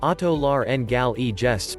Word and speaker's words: otolaryngologists: Thoracic surgeons and otolaryngologists, pronounced otolar-n-gal-e-gests, perform tracheal surgery.